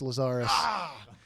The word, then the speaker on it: Lazara: I get that right no it's lazara that's okay i got